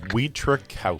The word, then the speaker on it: Wietrzykowski: Wieczorkowski. I Okay. Wieczorkowski. So, it's like it's spelled.